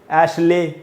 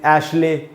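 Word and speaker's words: Ashley: दोस्तों आपको याद रखना, जब भी आपको LEY इस प्रकार से दिखाई पड़े तो 99% उसका उच्चारण ली होता है, ले नहीं। इसीलिए इस शब्द का सही उच्चारण है एशली। एशले एकदम ही गलत उच्चारण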